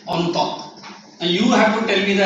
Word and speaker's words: Entente: How do you pronounce? E-N-T-E-N-T. Entente.